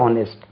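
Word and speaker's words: honest: ஏழ்மைத்தனம் இருந்தபோதிலும் ஹி இஸ் ஹானஸ்ட் இதுல என்ன ஹிஸ் ஹானஸ்ட் ஹி இஸ் ஹானஸ்ட் எச் ஓ ஓ என் இஸ் டி இது ஹானஸ்ட் என்று உச்சரிக்கணும் ஹானஸ்ட் இது உச்சரிப்பு செக் பண்ணுங்க இப்படி இருக்குமா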